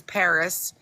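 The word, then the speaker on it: PVRIS: And then, of course, my favorite band is Paris, spelt with a V, P-V-R-I-S.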